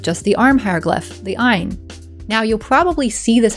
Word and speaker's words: ayin: So the word for the name of the letter is more like ayin.